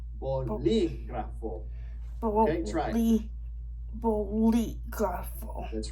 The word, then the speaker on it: bolígrafo: But for now, just know that when you see one of those accents, it's there to tell you I'm special and you got to say me a little bit stronger. Okay, so we're going to say that syllable a little stronger than the other ones. I like to tell my students to step on it a little bit.